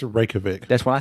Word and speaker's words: Reykjavik: has a penis Museum I think it's a Reykjavik that's why I said Reykjavik has a penis